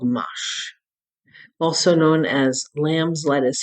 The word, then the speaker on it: mâche: One of my favorite salads is called mâche, also known as lamb's lettuce here in the United States.